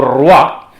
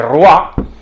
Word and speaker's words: roi: como saben ustedes eh lo que en francés se escribe oi es un diptongo que ahora decimos waa pero lo decimos desde después de la Revolución Francesa porque eh en el